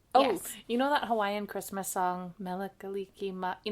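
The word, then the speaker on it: Hawaiʻi: I noticed when I was in Hawaii, they spell it the same, but there's apostrophe between the I's. In Hawaii? Yeah, like for the word Hawaii. Oh, because that's why it's Hawaii.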